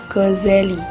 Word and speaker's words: Ghazali: wilayah khurasan Iran akhir-akhir namanya kadang diucapkan Ghazali 2z artinya tukang pintal benang karena pekerjaan ayahnya seorang tukang pintal benang wol sedangkan yang lazim ialah Ghazali 1-z diambil dari kata Godzilla nama kampung kelahirannya Al Ghazali belajar ditempat